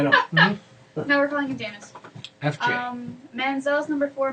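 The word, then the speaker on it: Jameis: say it because I wasn't sure if it's jamus or Jam because it's jamus it's jamus jamus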